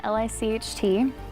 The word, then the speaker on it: Licht: The spelling of my last name is German. It's spelled L-I-C-H-T. Sounds like Licht.